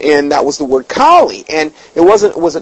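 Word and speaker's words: Kali: heard it now what kie is is you spell it k a l i it's not like the dog klie okay it's k a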